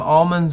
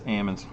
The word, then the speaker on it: almonds: rest of the fireball it's ammons yeah and if you he loses you gotta drink it all i know it's ammons you don't you don't pronounce the milks i know california ham and farmers and they don't they don't say almond yeah well that's justin's